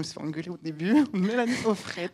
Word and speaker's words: Mélanie Auffret: Mélanie Offret. On prononce toutes les lettres en breton.